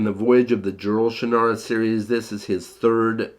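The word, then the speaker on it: Shannara: future of Earth and that is the shinara series or shra if you prefer to to say it like he does I say shanara uh the shanara series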